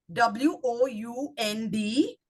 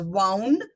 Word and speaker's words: wound: W-O-U-N-D can be pronounced as wound and wound. And when it comes into the same sentence, one becomes the verb, the other one becomes a noun.